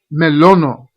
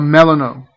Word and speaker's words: Melono: Her pet is it's the pronunciation is melono grub. Melono. Melono. Of course, I guess you could call it a melano grub if you want. A melano grub if you really want. But the way that I pronounce it is melono.